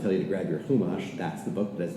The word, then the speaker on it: Chumash: Your Chumash, fine, depending on your Yiddish pronunciation or not. But Chumash for our Sephardi listeners.